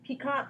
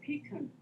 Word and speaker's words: piquant: I actually have the, okay, remind me how to pronounce is it peacock, piquant? It's piquant. Piquant. Yes.